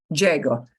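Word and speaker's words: llego: big but Uso but Diego similarly similarly if I punch the uh at the end of Diego if I don't pronounce it if I pronounce it if I pronounce it it means he arrived so don't punch the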